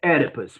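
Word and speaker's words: Oedipus: ahead Eduardo o e so we pronounce edus with an E okay erus edus erus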